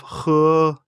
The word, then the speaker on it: 呵: The pronunciation of 呵, similar to the English word her, the pronunciation is assisted by the tongue. When exhaling to pronounce this word, pull the tongue back slightly and slowly exhale air from between the tongue and the upper jaw.